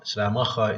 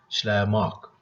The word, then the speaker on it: Schleiermacher: Schleiermacher is the pronunciation in German, but in English, I think it is Schleiermark.